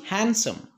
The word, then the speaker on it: handsome: way handsome it is not handsome it is handsome be silent handsome he is handsome he is